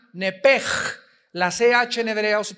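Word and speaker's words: נפש: En Génesis 35 dice el versículo 18, "Y aconteció que al salírsele el nepesh, apúntalo ahí, el alma en el hebreo es nepesh, se pronuncia nepej.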